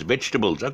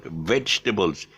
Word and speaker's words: vegetables: vegetables but it's uh just with a veg and and there's no table okay i know you eat vegetables on a table but there's no tables vegetables vegetables just remember that they're